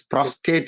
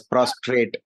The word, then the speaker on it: prostate: didn't know it was it was oh it's prostate is it thank you for correcting me got corrected only in the morning today okay okay maybe Indians are used to pronounce it as prostrate okay I'm getting prostrate actually I'm getting prostrate